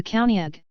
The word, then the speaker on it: Caoineag: the County ag Scottish Gaelic pronunciation is a female spirit in Scottish folklore